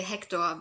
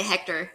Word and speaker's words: Hektor: Yeah, well, in German you would say Hektor, but you can say Hector. It probably sounds weird if you try to pronounce it in a German way.